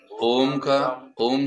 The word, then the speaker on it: ओम: यहाँ पर जब हम ओम शब्द का प्रयोग करते हैं तब ओम शब्द का प्रयोग दीर्घ होता है। ओम पूर्णमदः पूर्णमिदं, आपका प्रोनाउंसिएशन ऐसे ही होना चाहिए।